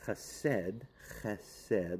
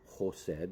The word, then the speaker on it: chesed: So, the word for this week is chesed, loving kindness. That's where we get the Hasidic movement from, or chosed is another way they pronounce it.